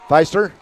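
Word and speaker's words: Pfeister: the teacher tell me p-f-e-i-s-t-r feister yeah something like spicer just because i'm a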